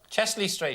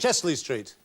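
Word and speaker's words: Chester-le-Street: It's Chester L Street, but how do you say it? Chesley Street. Chesley Street.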